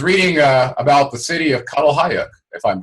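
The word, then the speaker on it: Çatalhöyük: And I was reading about the city of Catalhayuk, if I'm pronouncing that correctly.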